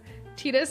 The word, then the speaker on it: Tidus: but I know it's Tidus, but hear me out. 10 was great. Lulu, yeah, goth mommy. Something, what a week, huh? Captain, it's only Wednesday. Titus is the pronunciation Square Enix uses, though most people aren't fans.